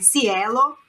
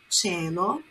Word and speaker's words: cielo: Il cielo, cielo, olha a pronúncia, não é cielo, é cielo.